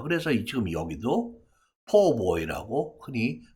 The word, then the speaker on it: Po' boy: 그 PO 4처럼 많이 발음합니다 그래서 지금 여기도 PO boy고 흔히 발음이 되는 것이죠 참고로 꼭가 아니다 PO 그것을